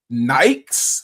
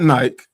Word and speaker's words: Nike: a little crazy because the term is Nike and for whatever reason, people in the UK don't like to pronounce certain vowels or letters or things like that. And I'm just like, it's not Nike. It's Nike.